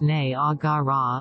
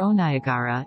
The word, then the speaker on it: Niagara: The cataract of Niagara, properly pronounced Nay-ah-ga-rah or O-ni-a-ga-rah, is as fatal as